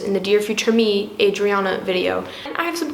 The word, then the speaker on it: Adriana: Adriana, 4 syllables, Adriana, not Adriana, Audrey Hepburn, none of the above.